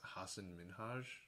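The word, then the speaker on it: Hasan Minhaj: back, Patriot Act with Hassan Minhaj. It seemed like you pronounced that wrong. Am I wrong? No, Wait, that's how that's how he pronounces it.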